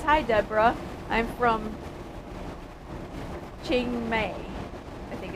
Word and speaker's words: Chiang Mai: I'm from Chiang Mai, I think it's pronounced.